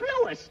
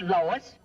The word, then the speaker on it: Louis: the plant Lois Lois my name is Lewis not Lois where's everybody enjoy please